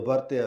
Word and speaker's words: vartiya: So it is from the Varata, or the Vartya, as we say in Punjabi, I pronounce it probably, Vat Rakhnawale, Vartya sadhus, that Shastrudya emerges.